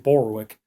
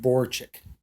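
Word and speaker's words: Borowczyk: I kept calling him Walerian Borwick, but I forgot that his name is actually Walerian Borchik.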